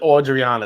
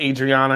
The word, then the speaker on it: Audriana: And you got to pronounce it Audriana. It's not Adriana, it's Audriana. Yeah, I'm getting some nice rye spice there.